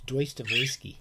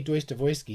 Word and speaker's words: Dostoevsky: cool at a party, you pronounce it correctly. It's Doistuh-voysky. It's a secret. If you say Doistuh-voysky, everyone will think you're very clever.